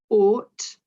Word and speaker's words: ought: So ought, A-U-G-H, it's still got that or sound, but it's silent. So make sure you don't make the GH into a F sound.